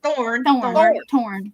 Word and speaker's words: Thorn: Like a rose and a It's thorn. thorn.